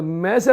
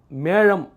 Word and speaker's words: மேழம்: தமிழ் புத்தாண்டு அப்படின்னு சொல்றாங்க இந்த மேஷ ராசி அப்படின்றது கூட தப்புதான் மேழம் மேழ ராசிதான் அந்த ழ உச்சரிக்க தெரியாம மேஷ ராசின்றாங்க இது என்ன ஆகுதுன்னா கிட்டத்தட்ட